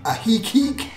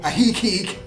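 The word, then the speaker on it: Ajijic: are lake chapala and ahiki and in our last video i pronounced that wrong and everybody corrected me so thank you ahi geek good job jp a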